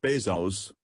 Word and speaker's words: Bezos: number 3 Jeffery Preston Jeff Bezos pronounced Bezos was born on January